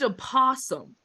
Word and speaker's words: opossum: yeah, Is, and a ghost opossum. I'm And? sorry, did you pronounce the O in possum? I sure did.